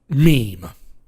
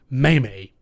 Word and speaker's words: meme: the Internet's most recent meme because this pronounced to meme not mamie I don't know where